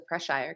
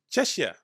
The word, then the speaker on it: Cheshire: Cheshire cat has the Preshire cat, and I would have missed that. I'm still saying it wrong. Please, Spessy, do not. It's Cheshire cat. Cheshire.